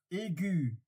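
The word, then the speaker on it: aiguë: Like there is an example, aigu. And so aigu, there is the trema in top of the U, because else it would have been pronounced egg, because the GUE it's pronounced G.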